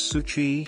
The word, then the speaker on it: SU7: and it's finally here it's called the su7 pronounced as Suchi she is Chinese for seven and with it